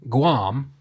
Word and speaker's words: Guam: this very specifically is on Guam on Guam cuz it's an island it's not he's not in Guam he's on Guam that's how they say it I don't know if that's how it's actually supposed to be said it sounds fine to me I've heard a lot of people say on Guan I live in Iowa